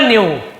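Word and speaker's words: knew: नो में के W silent होता है, केवल नो पढ़ते हैं, नो है ना, तो नो यानी जानना, और न्यू सेकेंड फॉर्म जानता था।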